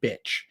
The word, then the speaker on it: bitch: recommend using the word bitch. But we're talking about it because many people have difficulty with the pronunciation here. This one has the E sound. This one has the I sound.